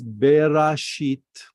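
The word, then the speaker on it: בראשית: So with the vowels, it says berashit. Now, if there's no vowels, we're not able to pronounce it this way. Then we have be with a dot with the kamatz. Kamatz is a. So we say ba. Resh with the kamatz, we say ra.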